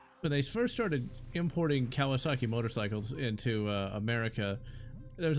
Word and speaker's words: Kawasaki: Yeah, you pronounce it Kwagasaki. It's like, where you got the G, I don't know.